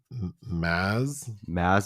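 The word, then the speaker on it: Mads: Am I putting it He on said it like Maz Mickelson? So the D is silent.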